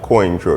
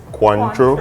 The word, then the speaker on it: Cointreau: and the orange yes the the help you pronounce it is not coin true it's cuantro it's quite sure so as you could say